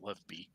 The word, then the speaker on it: LOVB: as they say it they call it love volleyball um but it's spelled lovb which I'm gonna say is love be uh so whatever I